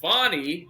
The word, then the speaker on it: Fani: trial is not about Fanny she's not on trial I mean fonnie I guess it is fonnie I don't want to mispronounce her name I think it began as Fanny now it's fonnie uh my mother's name